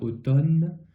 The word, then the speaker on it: automne: un e final donc on a automne mais le M donc ne s'entend pas du tout ensuite j'avais souligné voix